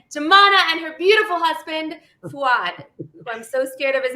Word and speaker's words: Fuad: guys can actually see his name is spelled up here f-u-a-d and it's pronounced fuad right yes it is so